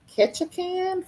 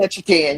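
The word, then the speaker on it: Ketchikan: I lived in I probably say this wrong. Ketchacan for a few years." You say that right. Birthday. I said it right. Okay, catch a can.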